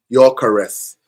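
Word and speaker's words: Gyökeres: go I can say your caress. Not forget the G. The gy are silent. Your well the G is silent in it. Your caress.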